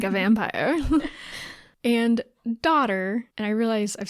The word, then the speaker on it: dodder: like 18 times now it's spelled D o d d r it's not like daughter like a like a young like an offspring daughter d o d d e r it's just a very